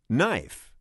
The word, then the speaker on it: knife: all not knife knee these are all viking words but somehow we have lost the first sounds and now they are silent but look there is a pattern a silent k comes in front of n use this to